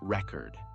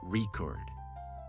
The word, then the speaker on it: record: For example, the word record changes pronunciation based on whether it's used as a noun or a verb. As a noun, the thing, it's pronounced record.